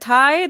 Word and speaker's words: tithe: Someone said tithe. Like the one people were popping in their mouth during C19. Oh, no. It is a tie with a sound at the end.